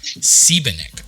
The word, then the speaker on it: Seibenick: as the wonderful how do you pronounce your last name sibenik okay it's exactly how i would have pronounced it now most of